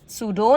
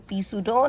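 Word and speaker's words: pseudo: सूडो, नॉट पी सूडो, नॉट पी psychiatrist, it's psychiatrist.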